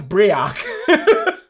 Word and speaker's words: Brioc: there is Brick yeah b-r-i-o-c pronounce briac wow his name's just